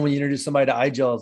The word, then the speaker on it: iGel: That's like conversation number one when you introduce somebody to iGel. Is like, why is it called iGel? And iGel is pronounced Igel in German, and Igel in German is a hedgehog.